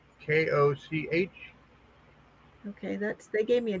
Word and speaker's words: Koch: Pronounced Cook, sadly enough, and weirdly enough. Because we're it's not actually Koch, like Mayor Koch, but it's Cook. We say Cook.